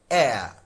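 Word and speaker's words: heir: Option A is air, just like this. The H is silent.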